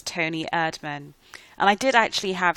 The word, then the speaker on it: Toni Erdmann: I said it right a german comedy called tony admin and i did actually have secretly high expectations